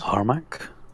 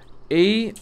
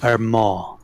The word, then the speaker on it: Armagh: series of them, and it's actually pronounced Armagh. Armagh, okay. Armagh, yeah, it's Irish.